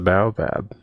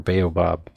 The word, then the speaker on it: baobab: It's the bowab. or baobob depending on how you say it. I looked up how to say it and it gave multiple ways.